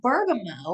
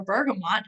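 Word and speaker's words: bergamot: Serenity and breathe then we've got Bergamo or bergamont depending on how you pronounce it this is a really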